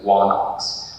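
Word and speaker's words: ϝάναξ: So we know that some people's names originally had what pronounced the W sound in front of it. So the word for king usually is written onox, but it was known as wanox.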